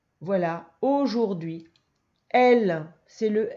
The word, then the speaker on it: aujourd'hui: Et puis, il y a un H muet. Voilà, aujourd'hui.